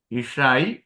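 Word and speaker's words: אשה: എഴുതുന്നത് ഇഷാ എന്നാണ് അലഫ് ഇഷായി ഇഷാ ഒരു ഹായും കൂടി ഉണ്ട് നമ്മൾ ഉച്ചരിക്കുന്നില്ല ഹേത്തും കൂടി ഉണ്ട് ഇഷ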